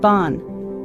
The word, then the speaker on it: bon: Think of the word bon. Practice saying it as though you're humming the on.